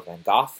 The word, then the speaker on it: Van Gogh: It's Van Gogh, or Van Gogh, as he's pronounced over here in some of the foreign languages there, foreign countries, I mean.